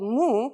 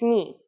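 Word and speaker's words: μι: is a consonant me you might have heard it called mu but it's not how we say it in Greek it's me the sound of me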